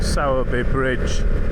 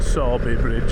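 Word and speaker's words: Sowerby Bridge: I managed to hit a place called Saabby Bridge or Si Bridge as it's pronounced in uh rush hour.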